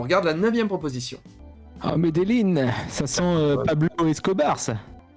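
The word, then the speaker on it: Medellín: Alors, est-ce que t'as Les une gens dans idée, le chat vous disent ça se prononce Medellin.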